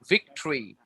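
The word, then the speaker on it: victory: আমরা যদি বলি হিস্টোরি, হিস্ট্রি না হিস্ট্রি, lottery, ভিক্টরি, right? Battery, আমরা বলি ব্যাটারি, হ্যাঁ, but battery, lottery, হিস্ট্রি, হিস্ট্রি, হিস্ট্রি, ভিক্টরি, right? এরকম আমরা কিন্তু ভিক্টোরি বানান হিসেবে হয় হচ্ছে ভিক্টোরি, কিন্তু আমরা বলি ভিক্টরি, রাইট?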